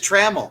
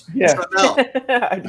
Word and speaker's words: Trammell: And everybody always says Trammell. It's Trammell.